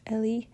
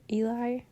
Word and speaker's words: Ellie: It's Stranger Ellie. It's not Stranger Eli.